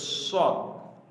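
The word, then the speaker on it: ص: তারপরেশিনশিনশিনশিনশিনশিনশিনশিনশিনশিনশিনশিন ঠিক আছেশিন তারপর সদ সদ সদ সদ একটু একটা বাতাস বের হবে সদ ঠিক আছে একটু বাতাস বের হবে একটু জিববার এটাকে সদ সদ তার দোয়াদ।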